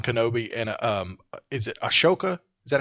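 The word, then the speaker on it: Ahsoka: Anakin Skywalker Obi-Wan Kenobi and um is it Ashoka is that how it's pronounced Asoka yeah Asoka uh Tano so they came in to train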